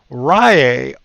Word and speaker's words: Riiai: This is the Riiai, and it's spelled R-I-I-A-I, 11,000 milliamp hour mini spot welder with 80 gears.